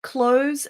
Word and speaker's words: clothes: point out with rhyme did you notice that clothes and those rhyme I often find students get confused with that and they try to say clothes or clothes it's just the same pronunciation as clothes as in open and close in British or Australian pronunciation anyway so clothes or those actually rhyme okay let's keep going